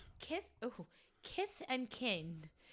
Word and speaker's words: Kith: But if Tyson said it, but it's Kith. Kith. Am I saying that wrong? Kith. Kith. K I T H. Yeah. Kith. You saying it right.